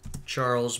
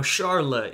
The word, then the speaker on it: Charles: AKA Charles The Hammer now Sharla is a more accurate pronunciation but I'm gonna lay off on the French pronunciation A little bit I'm just going to pronounce things as an English speaker normally would apologies to any french